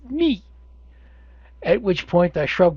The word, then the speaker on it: mu: to pronounce that letter is it me or moo and he looked at me and said no it's me at which point I